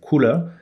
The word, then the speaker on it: Kuler: couleur, et en fait ça s'écrivait couleur K-U-L-E-R, et prononcé à l'anglaise couleur, et donc couleur, ça rappelait le couleur en français bien évidemment.